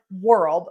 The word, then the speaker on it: world: But, if you think about pronouncing the word world like something spins around and it's spelled differently, most of my students can pronounce that.